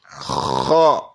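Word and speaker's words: خ: Kha. That's a throat letter. Kha is a throat letter. Kha, originating. And if you don't feel your throat when you're saying the letter kha, then you're not saying it correctly.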